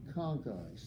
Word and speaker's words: conchae: singular conc hae and in latin the CH to stand for a K sound as in trochanter for